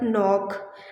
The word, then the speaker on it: knock: on the beginning, but if the K containing N as a second letter in the spelling, you will be not pronouncing the word K. For example, as the word knock, as the word knife, as the word no, as the word knee.